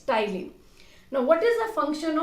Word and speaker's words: ptyalin: Here P is silent. So कुछ बच्चे बोलते हैं ptyalin. It's not ptyalin, it's ptyalin.